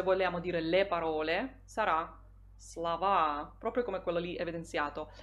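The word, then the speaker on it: слова: come quello lì evidenziato eh l'accento tonico si sposterà sappiamo che quando si forma il plurale di un sostantivo se quel sostantivo è del genere neutro e e consiste solo di due sillabe l'accento l'accento tonico quasi sempre si sposterà e noi troveremo parola slova parole Slava Poi troviamo la parola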